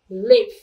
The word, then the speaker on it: live: Ở đây mình có từ i và e, cho nên cái này mình đọc là live, và leave để chơi nhỏ.